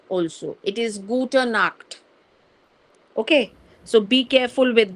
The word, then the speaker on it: Gute Nacht: So I'm just specifying here this thing because you should be pronouncing the word correctly, because most of the students they say Guten Nacht also. It is Gute Nacht.